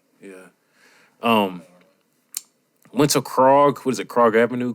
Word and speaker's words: Krog: yeah um went to krog what is it croc avenue krog street how do you spell that k-r-o-g like frog but like with a k all right um k-rock